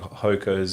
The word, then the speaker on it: Hoka: it's Hoka, Hoka, actually.